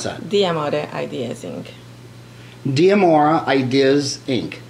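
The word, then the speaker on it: D'Amore: How do you pronounce that? D'Amour Ideas, Inc.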